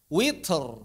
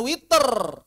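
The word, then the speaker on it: وتر: Atau misalnya witr bukan witer atau wat bukan wator begitu.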